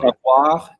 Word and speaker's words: savoir: going to have to help me with the pronunciations because my French is notoriously bad. But you talk about the difference between savoir and connaître.